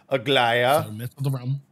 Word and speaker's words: Aglaia: because it's my name aglia has been added is that how that's pronounced the glia i haven't i didn't lie okay yeah aglaia yes yes yes again again uh people